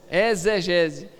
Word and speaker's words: exegese: falava não exegese bom exegese escreve com x mas fala com z amém